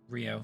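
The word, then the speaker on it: Ryo: The perfect leading man, uh, Rio Rio, how's it pronounced? Rio.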